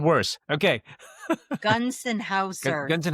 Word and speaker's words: Gonsenhauser: Gunsenhauser, just in Gunsenhauser.